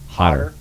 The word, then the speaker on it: Hodder: you say his name hot hot hot like Potter hotter documentary right here check